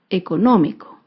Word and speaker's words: económico: esdrújula es la palabra económico económico se acentúa en la antepenúltima sílaba económico y como se